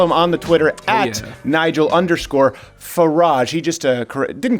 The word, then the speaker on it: Nigel Farage: You can follow him on the Twitter at Nigel_Farage. He just didn't correct me, but he kind of gave me a lesson in how you pronounce garage, is how you can say his name.